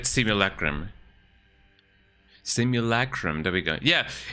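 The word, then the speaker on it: simulacrum: How do you say it in English? As far as I am concerned it is it is said simulacrim.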